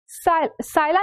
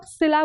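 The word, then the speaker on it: Scylla: Idiom बोलता है caught between, साइला नहीं बोलेंगे इसको, एक्चुअली हम इसको बोलते हैं सिला, ठीक है।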